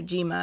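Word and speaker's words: Zima: Yeah, or Jima, as they pronounce it.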